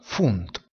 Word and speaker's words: Pfund: La lettera P seguita dalla lettera H oppure dalla lettera F si pronuncia F. Ad esempio, filosofia, filosofie, si pronuncia filosofie. Percorso, pfad, si pronuncia fat. Libra, pfund, si pronuncia funt.